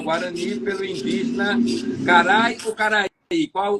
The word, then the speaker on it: Caraí: publicou Iara, coleção poemitos, poesia infantil, casa verde editora, 2011, posteriormente traduzida ao guarani pelo indígena carai ou caraí, qual o nome, como é que se pronuncia?